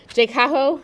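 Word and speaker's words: JCAHO: So this J CO we'll call it let's just pronounce the abbreviated words Jaho um before they can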